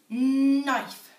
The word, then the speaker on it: knife: this one is nice knife it starts with the MM sound but some of you might remember it's actually got a silent letter it starts with 4k